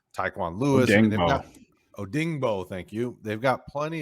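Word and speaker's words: Odeyingbo: across from k witty pay you've got deo odingo i'm sorry i butchered his name taekwon lewis oh dingbo thank you they've got plenty of defensive ends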